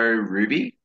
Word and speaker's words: RWBY: Have you seen the show Ruby?